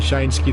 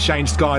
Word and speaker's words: Shaneski: It's pronounced Shane Sky, not Shane Ski.